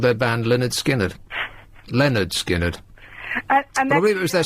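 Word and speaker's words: Lynyrd Skynyrd: in the title the first album was called pronounced Leonard skinnard which is going to come as a surprise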